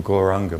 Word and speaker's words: Gauranga: this part is the gauranga mantra it's a very beautiful mantra and it has four syllables so we're going to say it in four parts which is a gaul rah so we put those